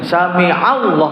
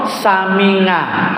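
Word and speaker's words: سمع الله: Aku ya belajar tajwid, belajar nahwu shorof, aku ya berusaha menggunakan nih sami'allah, bukan sami'ah atau samingah.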